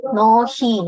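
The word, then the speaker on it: 너희: Nohi, ini bacanya nohi.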